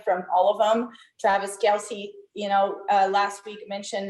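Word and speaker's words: Kelce: posted that uh we've been pronouncing his last name wrong the entire time yes sir it is kel's it is travis kell's idol really oh it is i thought it was kelsey too wow it is k-e-l-s uh pronounced k-e-l-s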